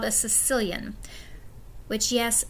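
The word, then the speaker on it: caecilian: and it's called a Sicilian which yes makes it sound like they're from Italy and not at all what that word looks like but that's how you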